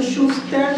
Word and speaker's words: Schuster: En alemán no se pronuncian las R porque es norótico, no es unter, es unter, ¿no? Unterdruck. Eso se lo traducen por sofocación. Por eso, por ejemplo, en el apellido Schuster no es Schuster, es Schuster. No se pronuncian las R al final.